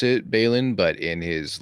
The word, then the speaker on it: Balin: or is it Ballin probably people pronounce it Balin but in his like Dwarven accent it comes out balling they call me Ballack but it's pronounced Balin uh chest dwarf worth we've got tree trunk